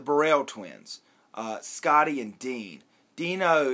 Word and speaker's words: Deano: Deano is actually how you spell his name with an O at the end of it, but he pronounced it Dean.